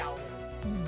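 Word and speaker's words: gaol: o l I know it's spelled jail but pronounce it g jail G uhhuh you're going to jail just jail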